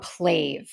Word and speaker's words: PLAVE: want to talk about and recommend they called pla I may be pronouncing that wrong it's p l a v